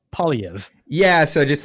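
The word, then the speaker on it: Poilievre: know what the heck that is so it's POV yeah so just like think like paully and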